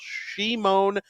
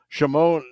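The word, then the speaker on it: Šimon: haven't confirmed it that Shimon NE uh is Shimon is from Slovakia that's how they pronounce it there whereas Simone G remember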